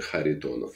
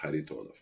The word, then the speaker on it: Kharitonov: there it's a the the K is silent should be silent so it's a har tonov like a Harry Potter har tonov I see okay well